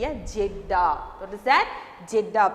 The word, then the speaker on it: Jeddah: Jeddah. Pronounce it. Write the spelling here. Jeddah. G-J-E-D-D-A-H. Jeddah.